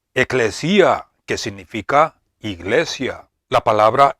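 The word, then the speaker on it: ἐκκλησία: La palabra hebrea, que se pronuncia kahal, es equivalente a la palabra griega, que se pronuncia eclesia, que significa llamar juntos, o reunirse, juntarse, congregarse.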